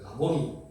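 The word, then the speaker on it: 라보니: 왜냐면 너무나 하나님의 말씀을 잘 능통하게 잘 가르키기 때문에 당시에서는 존중받는 가르킨 선생을 랍비 정확한 발음으로 라본이 이렇게 불렀거든요.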